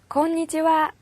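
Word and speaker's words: こんにちは: 건니치와, 건니치와. 안녕하세요 라는 뜻인데요. 점심 인사예요. 자, 그러면 여기에 있는 발음에 주의할 부분도 우리 한번 알아볼게요. 자, 점심 인사인 건니치와에 이거 하잖아요. 자, 얘는 조사예요. 그래서 와로 발음이 되는데요.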